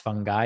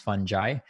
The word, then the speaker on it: fungi: it's called fantastic fungi and it's actually not pronounced fungi it's actually pronounced fungi and and so definitely a must watch i